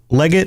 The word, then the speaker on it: Legate: So we have Legate. Is it Legate? Is that the pronunciation? Leggett.